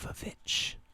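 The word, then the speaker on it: The VVitch: ter X the witch or as I heard one person pronounced it the vich because that's literally what the publication says what the cover says looks like two v's which you know wble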